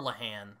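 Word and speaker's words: Lehane: my favorite modern Noir author is is Dennis lahane or leahan uh Carlos from story tube who is Irish said it's pronounced lahan but spell it l a l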